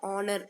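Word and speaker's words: honour: ஆனால் ஹெச்சை வந்து நம்ம இங்கே சொல்ல மாட்டோம். ஹானர் அப்படிங்கிறது ஆனர் அப்படின்னு சொல்லுவோம். இங்கே ஓ தான் வந்து ப்ரொனவுன்ஸ் ஆகுது.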